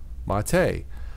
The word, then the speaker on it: mate: used to make infusions in a beverage called mate personally I think it sounds delicious I wouldn't